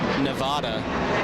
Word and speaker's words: Nevada: That's an example of the locals pronouncing it correctly.